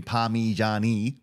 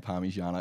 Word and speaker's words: parmigiana: No one says chicken parmigiani. Parmigiani. Parmigiana. Yeah, look, that's a bit of a stretch, me saying parmigiana. It's definitely parmigiana, but when you spell it, yeah.